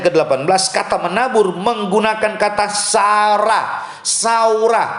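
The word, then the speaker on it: זרע: Nah, kata menabur dalam Amsal pasal 11 ayat yang ke-18, kata menabur menggunakan kata saurah, penulisannya Z-A-R-A, bacanya saurah.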